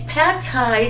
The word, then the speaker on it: Pad Thai: Is pad Thai supposed to be this sweet?